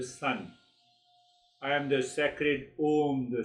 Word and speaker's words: Om: Om is made up of three syllables. A, U, Ma.